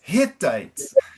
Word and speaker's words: Hittites: Now, the pronunciation of Hittites, this is where we want the Carioca R. Ah, verdade. Okay. All right, so it's like Hiu, it's Hittites. Okay.